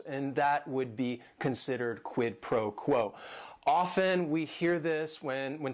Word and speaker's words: quid pro quo: And it is 3 words. Each word is only 1 syllable. And if you're saying it together, the stress is kind of on that first word and that last word.